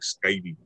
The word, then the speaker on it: sikaili: So we spell it like sikaili, but when we say it, it's supposed to sound like skydi, but it just means style.